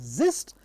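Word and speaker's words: Xist: what is called as XIs s pronounced as zist and tsic or T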